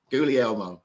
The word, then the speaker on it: Guglielmo: The second G is silent, and it's like Goo, G-O-O-L-L-L, Lee, like in Lee, River Lee, and Elmo, as in the red furry thing from the Muppets.